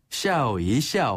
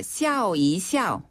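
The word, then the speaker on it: 笑一笑: 중국식으로 샤오이 샤라 해요네 샤오이샤오 한번 더 샤오 이샤오 아 이거 발음을 잘해야지 웃으면서 해야지 욕하는 거 같아요 샤오 이샤 이샤네 이때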